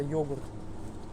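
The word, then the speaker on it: yoğurt: Это йогурт. Доял, йогурт. Г у них даже не произносится это.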